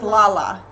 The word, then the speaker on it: Lala: Is it Layla or Lala? So I know I'm saying it right. Yay for notifications. How's she supposed to tell you? Because it's spelled the same. Okay, so 1 for Layla, 2 for Lala. 1 for Layla, 2 for Lala. Okay, so it's Lala. No, it's 1 for Layla, 2 for Lala. So she's Lala.